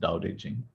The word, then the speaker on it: Tao Te Ching: It's spelled Tao Te Ching, but it's pronounced Tao Te Ching.